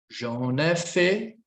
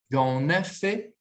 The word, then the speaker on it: j'en ai fait: J'en ai fait un. Pronuncia aqui comigo. Oui. J'en ai fait un. J'en ai fait un. Ligação, j'en. Liaison, d'accord? Contração, elision, elisão, j'en. Ligação, j'en ai fait.